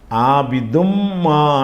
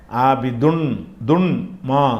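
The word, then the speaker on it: عَابِدٌ مَا: அப்ப ஆபிதுன் என்று படிக்காம ஆபிதுன்மா அடுத்த சொல்லை சேர்த்துரணும். அந்த ஆபிதுன் என்ற இன் உச்சரிப்பை வந்து நீக்கிவிட்டு அந்த மீம் வந்து டபுளா கொடுத்திருக்காங்கல்ல. அதனால மீமுடைய உச்சரிப்பு தான் வரணுமே தவிர ஆபிதுன் துன்மா என்று சொல்லக்கூடாது. ஆபிதுன்மா அந்த துன் என்கிற அந்த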